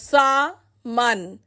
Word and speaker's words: salmon: Salmon is a kind of fish and is pronounced as sa-man.